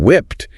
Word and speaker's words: whipped: And notice the pronunciation whipped ends with the soft t sound.